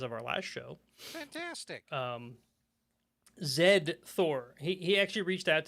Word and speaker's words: Zed: They reached out to me to specifically tell me how to pronounce that, because it's just Z, the letter Z, as us uncultured Americans pronounce it, Z.